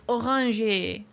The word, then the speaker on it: Oranje: And they pronounce it as Orange. Oranje.